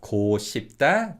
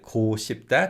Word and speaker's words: 고 싶다: or we simply add 고 싶다 to the verb stem. Now, one thing to add regarding pronunciation is that this 고 in 고 싶다 can be pronounced as 구 in natural fast speech.